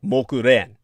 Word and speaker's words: Mokuren: And according to the story of Mogalyayanya, or the Japanese pronunciation for his name is simply Mokuren.